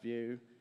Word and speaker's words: Vue: in a Drupal context so view UJS pronounced view and it's an open